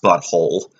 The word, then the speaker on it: But Whole: fractured but whole but it's just butthole with the W but here's the twist near the end of the game it's actually pronounced butthole bu T H oo